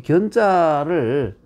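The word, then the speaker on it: 見: 자, 그러면 순상견, 순이 위로 임금을, 우리 보통 이 견자를 보통 보면 뵙다 할 때는 현이라고 읽는데 중국에서는 전혀 그렇지 않습니다. 모두 뵙다나 만나다, 보다, 위를 보나 밑을 보나 전부 견, 견으로 통일이 되어 있어요. 우리만 이 높은 사람이 낮은 사람 평등한 상황이나 낮은 사람 볼 때는 견이라고 하고, 지위가 낮은 사람이 높은 사람을 만날 때는 현이라고, 알현할 때 알견이라고 써놓고 알현이라고 읽죠.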